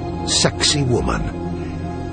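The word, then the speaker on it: Sacsayhuamán: incredible feats, astonishing temples like Alante Tombbo and this one with an Incan name provocatively pronounced sexy woman.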